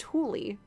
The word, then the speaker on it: Thule: So there is a company named exactly spelled like this, Thule, and it's pronounced Thule.